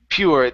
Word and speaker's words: pure: pure chaos ok so instead of pure so adding more of an EU ok pure that you sound is really quick pure chaos peared cares